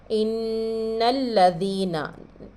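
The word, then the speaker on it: إِنَّ الَّذِينَ: इन्नल्लज़ीना इन पीछे हमज़ा से नून को पढ़ रहे हैं, फिर उसके बाद नून से हम लाम को मिला रहे हैं, क्योंकि लाम के ऊपर भी तशदीद है। अलिफ साइलेंट है, अलिफ को नहीं पढ़ेंगे।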